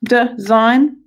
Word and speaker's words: design: okay to two syllables design yeah so it might be that you could annoy there because we say design don'twe which is like an ear okay Oh such as